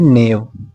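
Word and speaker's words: knave: मेंडेशियस, मेंडेशियस, मेंडेशियस एंड नेव। के silent रहता है इसमें, नेव।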